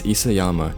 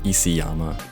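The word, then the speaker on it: Isayama: It's Isyama, not Isyama.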